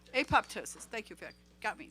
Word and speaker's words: apoptosis: cancer cells it induces apoptosis i think that's pronounced that right apoptosis thank you vic got me there it induces